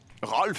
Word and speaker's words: Rolf: Bet Productions regretting telling you how to pronounce it correctly. Rolf.